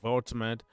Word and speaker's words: Woltemade: Yeah, they pronounce it Vultmed. But in French we we we don't pronounce V. We pronounce, you know, what we VM, not W.